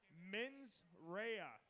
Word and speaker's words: Mensera: yeah that's because I have gotten the correct pronunciation men's Raya is up next so come on give it